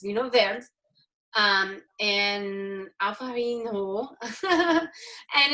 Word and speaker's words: Vinho Verde: is becoming super trendy, it's not pronounced Vinho Verde. Everybody wants to pronounce it that way. So just a little insider tip that it's Vinho Verde.